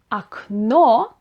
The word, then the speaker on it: окно: So instead of окно, which is the stressing the ending of the word, now in the